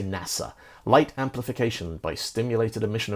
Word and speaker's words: NASA: So the National Aeronautics and Space Administration, NASA, that's an acronym, because we don't say NASA, we say NASA.